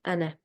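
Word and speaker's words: أنا: a singular word, and if you find this as a single word, then in this case the alif will be not read at all. It will be written like this, but it will only be read like this. This is important because it's an exception, but it will always be read like ana.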